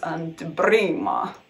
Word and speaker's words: Anteprima: I think it should be pronounced Anteprima, but you know, I'm just showing off that I can roll my R's.